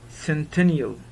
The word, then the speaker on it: centennial: Centennial. Centennial. Centennial. Double N in spelling, but pronunciation, just one.